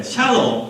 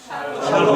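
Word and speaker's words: שלום: 네, 샬롬. 그게 발음을 너무 세게 하면 안 돼. 샬롬 하면 안 되고 샬롬 이렇게 해야 됩니다.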